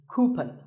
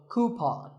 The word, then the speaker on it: coupon: of these a coupon a common incorrect pronunciation is coupon but the second syllable should be pawn so coupon here's word number 16